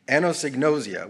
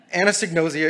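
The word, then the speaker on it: anosognosia: to talk about something by the name of anosignosia which we have heard today with several pronunciations anesignosia is a condition experienced by people like me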